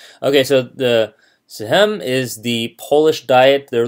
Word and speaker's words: Sejm: they would dominate the Sejm. The J is silent. Okay, so the Sejm is the Polish Diet,